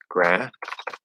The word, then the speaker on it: granted: And again, if we stop that D or hold that D, now the only difference in pronunciation between granite and granted is the stop T or stop D at the end.